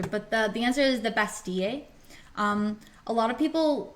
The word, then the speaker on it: Bastille: it like in English, but the double L in French makes an E sound. So like when you say a girl, it's une fille, like Fille. So it's the Bastille if you want to pronounce it correctly.